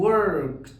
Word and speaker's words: worked: بقلب الدي اخليها تي، فبقول worked watched asked.